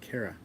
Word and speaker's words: Kara: Thank you for asking, Kara. I said it right this time. I had to correct myself, but Kara. There we go.